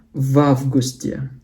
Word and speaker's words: в августе: Jadi V dan A boleh digabung ya. Jadi bacanya в августе.